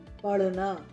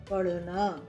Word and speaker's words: पढ़ना: पढ़ना, तो हम ढ नहीं लिखेंगे, ढ़ लिखेंगे, पढ़ना। पेड़, तो ड के नीचे जब बिंदु लगा देते हैं तो इसका उच्चारण बदल जाता है, ड नहीं रहता, ड़ हो जाता है, ढ का ढ़ हो जाता है।